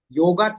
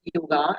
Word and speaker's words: yoga: So, what is exactly yoga? As uh we pronounce it yoga actually it is yoga.